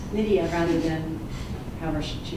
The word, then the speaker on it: Nydia: Again, my name is Nydia, and that's pronounced Nydia rather than however she said it. It rhymes with the name Lydia, and my last name, sounds like tis a season to be jolly.